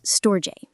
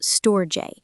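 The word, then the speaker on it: storge: The Greeks called it stoj pronounced stoj.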